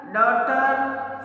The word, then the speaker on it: daughter: Neighbor, second one, neighbor, daughter, fight, straight. इन सबके अंदर G है, साइलेंट वर्ड है.